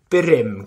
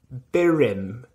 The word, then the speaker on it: burum: how it goes so to pronounce the collective it's birim collective birim collective birim collective if you can roll they are extra points but there's definitely no